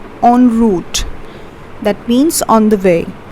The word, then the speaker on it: en route: Though it's written en, but it's pronounced as en route.